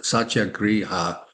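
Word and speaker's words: Satyagraha: Um and he brought back this idea of u uh sat I had to say it right but it's a vadic word satya griha soul force uh which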